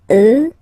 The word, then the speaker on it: eux: you get the sound remember, final X not pronounced, and then plural elle, elle. Okay, so let's see them one more time. Moi, toi, lui, elle, nous, vous, eux, elle.